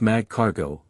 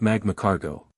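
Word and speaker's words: Magcargo: Firstly, it's pronounced Mag Cargo, not Magma Carargo.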